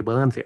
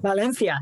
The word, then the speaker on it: Valencia: Or, if I want to pronounce it properly, Valencia. Valencia.